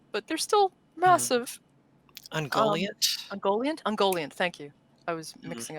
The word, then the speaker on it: Ungoliant: So they're not Ogoliphant, but is that how you say it? From the Silmarillion, but they're still massive. Ungoliant? Ungoliant, thank you.